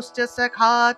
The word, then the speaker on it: সখা: দেখুন দন্তস আছে না সখা উচ্চারণ করবেন ইংরেজি এস ও স এর মত দন্তস এর উচ্চারণ তাহলে সাখা সাখা উচ্চারণ